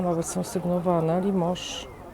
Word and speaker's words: Limoges: Limoges. Ale Limoges pisze się przez S na końcu, z tego co wiem.